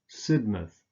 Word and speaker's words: Sidmouth: Again, you just pronounce a schwa here, an sound, rather than mouth. So Bournemouth, Plymouth, Sidmouth.